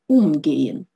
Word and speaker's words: umgehen: Обратите внимание на роль ударения. Приставка «um». Если она ударная, то она отделяется. Например, «umgehen» – обращаться с кем-то или с чем-то. Если она безударная, то она не отделяется.